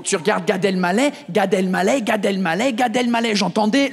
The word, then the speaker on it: Gad Elmaleh: Parce que pendant longtemps, je pensais qu'il s'appelait Gad Elmaleh. C'est-à-dire Gadel, plus loin, Maleh. Parce que vous, vous mettez la pause après Gadel.